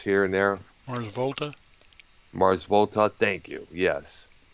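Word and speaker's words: The Mars Volta: He also did for some of the bands like Muse, the Mars Volata. I think that's how that band is pronounced here and there. Mars Volta, Mars Volta.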